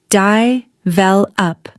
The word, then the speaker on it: develop: Many learners say develop but the natural stress is here. di-vel-up The middle syllable is stronger.